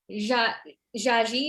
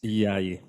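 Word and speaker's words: Jaaji: Cree from Ottawa, and Jaji, am I pronouncing that right? Please correct me. Jaji? It's Yai. Yai. See, okay. It's a J with more of a Y sound.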